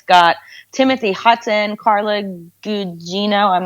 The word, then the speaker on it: Gugino: It's got Timothy Hutton, Carla Gugino. I'm not sure how to pronounce her last name. Gugino.